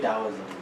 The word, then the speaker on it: Taoism: But yeah, it sounds but like it's pronounced with a D. Taoism.